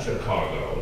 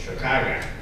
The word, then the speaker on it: Chicago: That's how you pronounce it, by the way. With AH, I'm yes, it's not Chicago, it's Chicago.